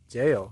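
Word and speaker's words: gaol: Jail. This is weird because it's spelled G-A-O-L.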